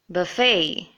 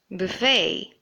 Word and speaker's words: buffet: should in fact be buffet or buffet remember we had seen ballet in our previous lesson and similar to that the T is silent just like how you would say ballet this should be the